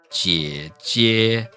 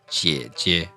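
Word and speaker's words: 姐姐: The important thing to note is that it does not get prolonged. So it's not jie jie. It's simply jie jie.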